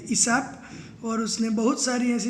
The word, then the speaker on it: Aesop: तो इस मज़ेदार स्टोरी को लिया गया है एडेप्टेड फ्रॉम ईसाप्स फेबल्स। तो देखो ये इसका प्रोनाउंसिएशन क्या होगा, ईसाप।